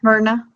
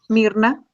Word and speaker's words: Myrna: Yeah, Myrna. Myrna. Okay. Myrna and. Oh, Mirna in Spanish. How do you say it in Spanish? Mirna. Mirna. Mm-hmm.